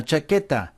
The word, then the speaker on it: chaqueta: Because we're trying to preserve the K sound, or the hard C sound.